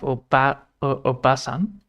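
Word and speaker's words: おばさん: So now we have obasan. So now we have obasan. So obasan. Technically obasan. So technically you say it as not double S.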